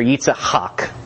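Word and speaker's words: Yitzhak: in the middle Hawk so you get that phlegm in the middle and the hard K sound at the end eats Hawk I'll stick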